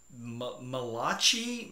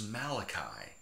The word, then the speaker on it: Malachi: stood out to her and she couldn't even pronounce it Malati malechie a it was malachi and this sweet woman who has by her